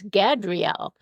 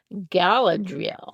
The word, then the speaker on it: Galadriel: Because we were thinking, it's Gadriel. No, I think it's Galdriel. We were pronouncing it all differently, and all we could really agree on was it began with a G and it ended with an EL, but we didn't even know how to spell that. But it was Galadriel.